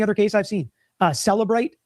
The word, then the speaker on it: Cellebrite: So, Cellebrite is like a program that they download to the phone, and it tells you The e is silent.